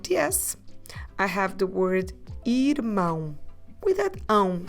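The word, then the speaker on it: irmã: nasal and we say Irma stress the last syllable make it nasal mouth open this time Irma so if you want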